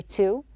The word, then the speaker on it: to: So you can see that we have here three types of pronunciation. It can be pronounced a clear tu, and we can pronounce it with a schwa sound, and we can turn it into a d.